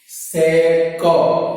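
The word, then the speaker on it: sec: सेक कैसे पढ़ते हैं स्टूडेंट, इसको पढ़ना है तो सेक पढ़ते, समझ गए। प्रोनाउंसिएशन गलत नहीं होना चाहिए, बहुत सारे गधेड़े गलत प्रोनाउंसिएशन करते हैं। सेक थीटा समझ गए ना, इसको क्या पढ़ते हैं, सेक, कचरा बहनों क, समझ में आया, कबूतर का क।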